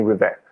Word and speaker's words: Rivest: as with vessel my last name is spell r-i-v-e-s-t i guess you will see uh in the podcast description but it's a french name so the s is a silent letter but it's river i'm on linkedin i'm